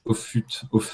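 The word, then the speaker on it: Offutt: un bouquin de Chris auut ça se prononce à l'anglaise au f ouais of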